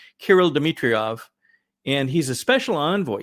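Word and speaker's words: Kirill Dmitriev: the gentleman from Russia is I believe pronounced Kirill Demetriovv and he's a special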